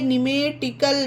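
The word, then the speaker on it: pneumatical: ये देखिए निमेटिकल, पी के बाद एन आया है तो पी साइलेंट है, इसे निमेटिकल पढ़ा जाता है।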